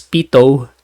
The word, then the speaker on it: pitot: is a pitot tube this is pronounced as pitot tube we will also be